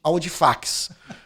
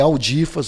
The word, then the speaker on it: Audifax: Até hoje, alguns chamam de Aldifax. Lá no Congresso, quando eu fui deputado federal, eu até passava um sufoco que todo mundo só me chamava de Aldifax. Né? Mas é Aldifas a pronúncia, mas escreve Aldifax.